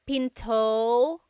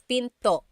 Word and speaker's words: pinto: is p and remember don't forget the glot stop don't forget to stop the sound at the end that's called a gladle stop being Pinto it's not Pinto it's Pinto stop it at the